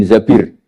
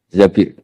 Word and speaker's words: Zabir: Kemudian saya nikah sama Abdurrahman bin Zabir. Di hadis ini bukan bacanya bukan Zubair tapi Zabir. Abdurrahman bin Zabir.